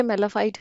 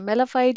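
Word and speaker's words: mala fide: दो तीन प्रोनाउंसिएशन है, ऐसे मेलाफाइड की भी दो तीन है, मेलाफाइड या मेलाफाइडी, ऐसा करके जो ना इसकी मतलब के प्रोनाउंसिएशन है, ठीक है।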